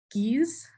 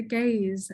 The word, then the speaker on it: Geez: saw the title um i pronounced it as geez as in geese geez but it is in fact the gays as in gays gays um in the